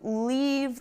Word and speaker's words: leave: When you make the E in leave, your mouth is wide.